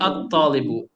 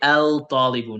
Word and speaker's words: الطالب: So we say at-talibu, at-talibu. We do not say al-talibu, no.